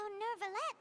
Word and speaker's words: Neuvillette: So Neuvillette maintains an archive of... Paimon! There's no R in there. The French don't pronounce the letter R.